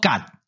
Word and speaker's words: 曷: 即个字伫即个所在读作甲，敢若是利可以持国乎？